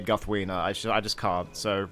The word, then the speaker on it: Guthwine: say this is because guthwine is actually Guth wiener guthwina and I'm sorry I'm sorry John Ronald rule Tolkien but yeah I I can't say guthwina actually I just can't